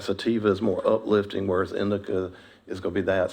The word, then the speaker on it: indica: different strains, like sativa is more uplifting, whereas indica is going to be that. So, for this program, it would probably be more strains that are genetically sativa blends versus indica blends.